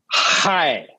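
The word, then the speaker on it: chai: Could you please pronounce the letters C-H-A-I for us? And we don't mean like the T. Hi.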